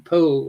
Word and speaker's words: Powell: adviser was charles poole who pronounced his name paul or was the brother